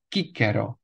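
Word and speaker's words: Cicero: stejná jména která už jsme měli v restituované výslovnosti Marcus tulius kicero Gaius Julius kaisar Lucius cornelius skipo africanus gigula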